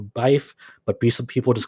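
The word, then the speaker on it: Riesbyfe: you pronounce her name it's like r-i-e-s-b-y-f-e that's her her name it's like race beef or bife but be some people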